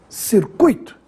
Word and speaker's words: circuito: caqui que estaria errado circuito ou circuito circuito é assim que se fala essa palavra circuito nada de dizer circuito e se escreve sem